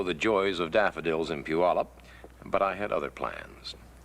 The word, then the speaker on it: Puyallup: Puyallup. That's how we say it. This is how we spell it. How we got the one from the other, I have no idea.